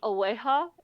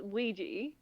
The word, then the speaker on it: Ouija: Um then there is um Uh, my sister pronounce it with the Spanish pronunciation every single time. And it's Aea. It's Ouija.